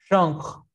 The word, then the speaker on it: genre: Genre.